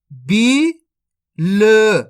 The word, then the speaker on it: बील: के बन जाएगा बिल दोस्तों आपको इसको बिल नहीं पढ़ना अगर आप बिल पढ़ोगे तो छोटी ई की मात्रा का उच्चारण हो जाएगा बिल जबक अपन तो बड़ी ई की मात्रा पढ़ रहे तो खीच के पढ़ेंगे बील ची नी तो मिलके